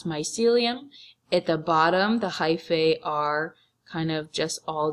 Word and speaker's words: hyphae: The body of a fungi is made up of many hyphae, that's how you pronounce this word, hyphae, tangled together into a thick mass called a mycelium.